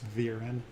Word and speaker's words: Viren: It's Viren. Viren, I'm so sorry. Did he pronounce it wrong, or did I?